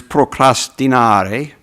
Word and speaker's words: procrastinare: And the Latin word is procrastinare, which I give an Italian pronunciation.